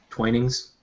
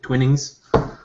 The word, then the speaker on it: Twinings: would you would you deign to drink twinings pronounce that again tweenings wow twinings it's tea man I drink tea there's alcohol